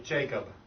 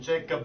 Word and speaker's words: Jacob: say Jacob change so you need to have a strong B at the end without saying Jacob but Jacob G and that comes from knowing how you actually make a B sound so good but and